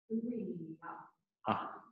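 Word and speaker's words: אוריה: Yes, it does sound wrong, but it's not. Yep. Uriya.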